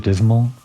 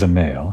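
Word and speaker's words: Dzemael: Was it Dismal? No, that wasn't it. It was the male. House the male, right? Silent D.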